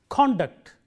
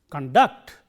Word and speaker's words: conduct: Conduct, stress on the first syllable used as a noun. Conduct, stress on the second syllable used as a verb.